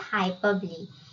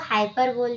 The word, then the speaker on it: hyperbole: अभी थर्ड वाला जो है वो है हाइपरबली। इसको हाइपरबोल भी बोलते हैं, बट एक्यूरेट प्रोनाउंसिएशन इसका हाइपरबली है।